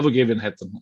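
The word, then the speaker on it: Övergivenheten: Yeah, vergivenheten. It's the G. The G becomes J.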